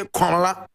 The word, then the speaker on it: Komla: And I spell, Komla is spelled K-O-M-L-A. That is the Akan, Kwabena, Akan, we say Kwabena. In ever we say Komla, Komla.